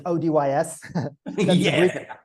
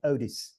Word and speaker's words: ODYS: There are a couple of ways to pronounce it. One of it is the original Craig Campbell way, which is ODYS. That's the British way. And then I call it the more international form is like ODYS.